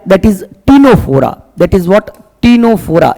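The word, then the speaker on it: Ctenophora: सिलेंटे निडरिया और सिलेंट्रेटा के बाद जो थर्ड फाइलम आता है that is टीनोफोरा। That is what? टीनोफोरा। इसके अंदर भी सी साइलेंट है बेटा।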